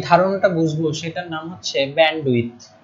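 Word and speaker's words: bandwidth: এখন আমরা যে ধারণাটা বুঝবো সেটার নাম হচ্ছে ব্যান্ডউইথ। উচ্চারণটা হচ্ছে ব্যান্ডউইথ। ডিটা এখানে সাইলেন্ট, এই যে ডিটা আছে,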